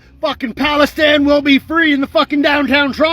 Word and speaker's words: Palestine: you know perfectly clear it's not pronounced Palestine it's Palestine and if you want to be Act correct it's philistin so yeah it shows